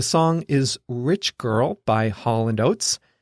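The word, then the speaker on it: Hall & Oates: as Hall and Oats we don't even say it like two names we just say Hall and notes like one word anyway the song is Rich Girl by Holland oats it's about a spoiled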